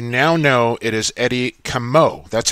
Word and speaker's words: Comeau: As we settled the debate right here on Lacrosse Classified, you now know it is Eddie Comeau. That's how you pronounce his name, Evan.